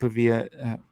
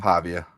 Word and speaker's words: Pavia: Um and so if you can if you can keep Pavilla is it Pavia? I don't want to say it wrong. Pavia.